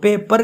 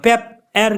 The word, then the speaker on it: paper: में लेते हैं तो पेपर की जो प्रोनाउंसिएशन है वो सही है, और पेप एर की जो है प्रोनाउंसिएशन वो सही नहीं है, क्योंकि जहाँ पे ब्रेथ का कहाँ गया है वहाँ हम ब्रेथ निकालेंगे।